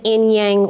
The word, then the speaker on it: Inyang: for short yes my last name is enyang west yang west yes with uh the channeler